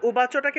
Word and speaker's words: উবাচ: উ রূপে উচ্চারণ করব সংস্কৃতে অন্তস্থ ব এর উচ্চারণ হলো উ ঠিক আছে তাহলে উবাচটাকে উচ্চারণ করব উবাচা উবাচা তারপর দেখুন ধর্মক্ষেত্রে খিয়